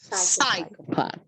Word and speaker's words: psychopath: it looks like a psychopath yes remember that all the words that are coming from greek that start with p s you don't pronounce the p you just say psychopath yes i like it